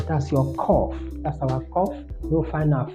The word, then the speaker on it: Qoph: So number 19, we have cough, cough. Some we put it as QOPH because of that sound, but it's okay.